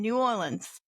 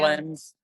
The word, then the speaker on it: New Orleans: So you were in New Orleans. Mm-hmm. You say it New Orleans, New Orleans. I'm from Ohio. Nolans.